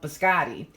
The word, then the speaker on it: biscotti: The biscotti, that's how you pronounce it, like the male name Scott Biscotti.